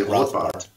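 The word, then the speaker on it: Rothbard: libertarian named Murray Ro I don't know how Americans say it Germans would say roart rothbart yeah rothbart and he was um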